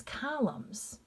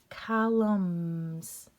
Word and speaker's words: columns: him this word is columns that n is silent columns autumn that n because